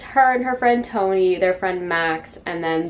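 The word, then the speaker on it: Tone: goes with her friend i think it's pronounced tony i'm not sure it's t-o-n-e who i'm not gonna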